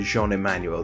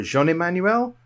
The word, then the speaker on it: Jean-Emmanuel: Magic Pro League member Jean-Emmanuel Depraz is quickly moving towards matching his two Hall of Fame countrymen.